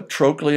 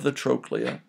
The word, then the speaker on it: trochlea: Remember, if you will, the CH letters in any Latin word are pronounced as the letter K. So a trochlea and a capitulum, lateral epicondyle, medial epicondyle.